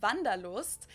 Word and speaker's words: Wanderlust: I'm gonna figure German that is good Wanderlust Wanderlust oh passion German word that we pronounce vandalost and yeah you don't really hair wonders much